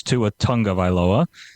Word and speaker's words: Tua Tagovailoa: Yeah, well, a quick pronunciation lesson for everybody. It's Tua Tagovailoa. I know it's not how it's spelled, but that's apparently the Polynesian pronunciation.